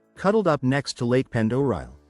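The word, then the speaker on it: Pend Oreille: Sandp Point sits in northern Idaho, cuddled up next to Lake Pendor. And if you just had to Google how to pronounce that, you're not alone. It's Ponderay, by the way.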